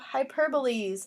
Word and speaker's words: hyperbole: all right now it's time to talk about hyperboles and that's a fun word to say hyperboles it is pronounced hi / bo lee hyperbole so now